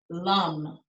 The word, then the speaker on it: lam: repeat the chant the um uh the sound lum and if you see it written anywhere it's l-a-m but you pronounce the a as sort of a u